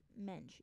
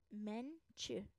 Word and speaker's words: Mensch: I literally don't hear an S. Like I don't understand how people pronounce it with an S. Like yeah, that's how I feel too. Like it's just like it's mensch.